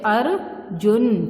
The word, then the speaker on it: अर्जुन: है बेटा यह देखिए यह जो र का रूप है ये जिस शब्द पर लगता है उस शब्द से पहले इसका उच्चारण किया जाता है जैसे धनु फिर ध के ऊपर है तो र पहले बल जाएगा मतलब धनुर धारी ज के ऊपर है तो ज से पहले अर्जुन ठीक है इस तरह